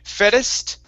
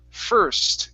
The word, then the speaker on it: first: that last word so instead of saying fettest it's fur first give me a good r sound there fur first first